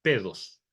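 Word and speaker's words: παιδός: Luego, cuando ese niño ya empieza a caminar, se le llama paidos o pedos, que se pronuncia pedos, ¿ya?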